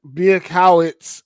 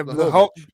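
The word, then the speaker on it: Błachowicz: So Bielkowitz or Bielkowitz, I'm gonna mispronounce it. It's minus Blachowicz. Yeah, Blachowicz.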